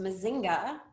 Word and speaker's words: Mazinga: Case in point, this company is pronounced Mazinga. It is a learning technology provider. How would you know that? You would forever have to spell this name as well and help people pronounce it. And it is the Swahili word for hive.